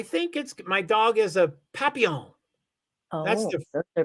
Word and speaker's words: papillon: My dog is a papillon.